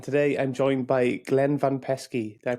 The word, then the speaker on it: Van Peski: host Aaron and today I'm joined by Glenn van pesy did I pronounce that right Glenn you did it sounds